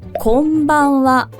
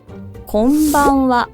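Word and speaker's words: こんばんは: 따라해 보셔도 좋아요 건치와 그리고 저녁에 하는 인사도 똑같아요 곰방와 곰방와 이렇게 고개도 같이 따라가면서 연습하는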